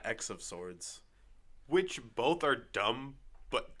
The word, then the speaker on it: X of Swords: the tarot card x-men event which is pronounced ten of swords in night X of swords which both are dumb